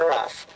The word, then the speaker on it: rough: That's rough. Spelled the same way as the other, O-U-G-H.